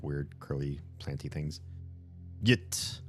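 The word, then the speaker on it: ġit: Yit. Pronounced same as... Oh, yeet. Pronounced same as yeet would be the modern English version of a dual second person pronoun.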